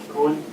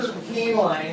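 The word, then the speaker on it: Koehnlein: next we have Cohen thank you my name is keeline and that's spelled k-o-e-h-n-l-e-i-n um I'm speaking on my behalf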